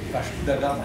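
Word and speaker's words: Vasco da Gama: que tu veux me reprendre, il faut le prononcer correctement. Vasco de Gama, c'est ça.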